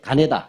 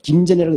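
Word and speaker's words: 金田: 예, 노란색 가네다. 네. 김전이라고 읽지 않습니다. 일본 사람들의 입장에서 읽어야 되잖아요.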